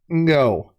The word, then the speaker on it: Ngo: It is by Tony Ngo, and NGO is a pronunciation that is pretty difficult for Americans to reproduce, but I want to get the guy's name right, and I've been practicing it. I looked up a pronunciation guide online, and it says that it is the same sound that is at the end of the word wrong.